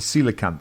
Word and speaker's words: coelacanth: I can't pronounce it. What is it? The coelacanth.